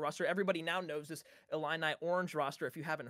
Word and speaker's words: Illini: Illini.